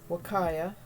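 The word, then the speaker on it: huacaya: There are actually two breeds of alpacas, Wakaya and Surrey. It took me forever to remember how to say Wakaya. It's spelled H-U-Y. It looks like it should be Wakaya or something like that.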